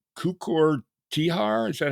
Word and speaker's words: Tihar: Yeah, Tihar, like, yeah, you pronounce very well.